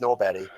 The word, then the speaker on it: Norberg: Swedish obnoxious libertarian uh Johan norbat uh spelled Norberg uh pronounced Nob he's uh he takes